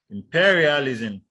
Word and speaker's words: imperialism: Then we have words that the stress is on the second syllable in the 5-syllable words. Imperialism, imperialism.